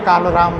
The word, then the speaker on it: काळाराम: बोला जाता है उसको तो ल जो है प्रोनाउंस संस्कृत में आ रहा है लेकिन मराठी में जो ल बोला जाता है तो काला राम ऐसे मराठी में हो गया और जो हिंदी भाषिक